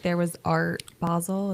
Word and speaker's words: Basel: And I think like there was Art Basle. Is that how you say it? Basil. It's Basel, I think.